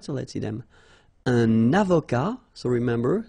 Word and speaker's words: avocat: Un avocat, so remember, liaison here, and then final T not pronounced, okay?